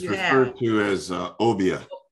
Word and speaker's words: obeah: of obeah okay it's referred to as uh obia obiya that's how they pronounce it obiya obia is a system of